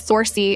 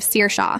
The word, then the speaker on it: Saoirse: Saoirse who becomes Sorcy instead of Saoirse.